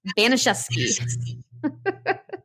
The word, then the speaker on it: Baniszewski: And yes, this is the way to pronounce the name. When you see it in writing, you're going to be like, wow, she slaughtered that. No. I finally heard it in audio after saying it wrong in my head 1,000 times. It's pronounced Baniszewski.